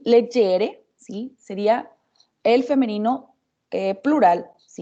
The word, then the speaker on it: leggere: Pero leggere, ¿sí? Tiene el acento en la primera E, y aunque se escriben igual, ¿sí?